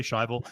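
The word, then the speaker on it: Schivel: I always pronounce it Shivel. Some people say Shivel.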